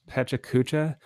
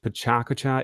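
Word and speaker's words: Pecha Kucha: I've seen it pronounced Pechakucha. I've also seen it pronounced Pechakucha.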